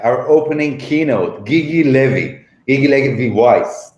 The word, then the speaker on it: Gigi Levy Weiss: Gigi Levy Weiss, right?